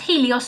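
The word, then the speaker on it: ἥλιος: helios, so that's why it's pronounced helios, not Elios, even though it starts with an eta, which is an E sound.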